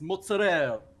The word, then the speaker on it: mozzarella: You're overpronouncing the fucking A at the end, my guy, it's mozzarella.